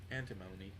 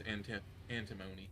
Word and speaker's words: antimony: Antimony. Alright. Yeah, so it is antimony, not antimony. That's what I thought, but again, I've heard it pronounced both, so oh well.